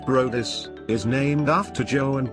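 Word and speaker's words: Bryde's: The bride's whale, pronounced Brodis, is named after Joe and Bride, who helped build the first whaling factory in Durban, South Africa in 1909.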